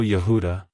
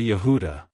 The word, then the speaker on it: Yehuda: it's pronounced as yahuda Yehuda Yehuda to pronounce it correctly emphasize the first syllable ya and the second syllable who with a slight emphasis on the last syllable da like hello Yehuda goodbye Yehuda if you found the